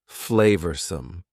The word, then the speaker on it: flavorsome: and full of flavor notice the pronunciation two schah sounds there flavorsome the sauce proved incredibly